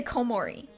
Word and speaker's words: Komori: the komori that cool the long o unless I'm speaking Japanese you can't hear it because I'll say komori and now you don't know it's a long o sound at the beginning right so the so uh